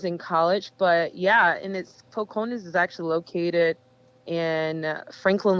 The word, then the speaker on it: Four Corners: So I am from a little country town called Foconas. You have to say it like that. You can say Four Corners. It's Foconas, where the language sounds like,